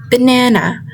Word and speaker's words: banana: For example, in the word banana. Banana. The stress falls on the second syllable which is n and in the word